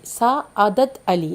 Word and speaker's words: Sa'adat Ali: Sa'adat Ali, like that the pronunciation.